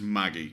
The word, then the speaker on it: Maggi: Magi soup Maggi it it's pronounced Maggie as in DM Maggie I have no idea